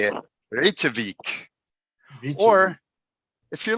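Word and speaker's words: Reykjavík: Reykjavik. Or if you're like a typical American, just say Reykjavik.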